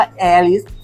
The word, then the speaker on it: แอริส: ยิ่ง ใหญ่ อะไร ไง แอริส จริง มัน ควร ออก เสียง ว่า แฮร์ ริส แต่ ว่า ราศี เมษ